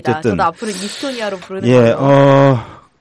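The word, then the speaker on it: Estonia: 그분이 발음을 이스토니아라고 하더라고요. 현지 발음에 충실하게. 그래서 그렇군요. 그 저희 세월호는 그쪽에 가니까 사람들이 다 10월이라고 부르더라고요. 네네. 자꾸 세월로 교정을 시켜줬는데 저희도 마찬가지로 에스토니아가 아니라 이스토니아라고 부르기로 서로 존중하는 차원에서.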